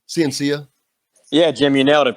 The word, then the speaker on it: Ciancia: first of all, is that the correct pronunciation of your last name? Ciancia?